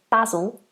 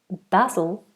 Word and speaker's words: basil: America but they usually say basil and Herb but we say basil basil and Herb then you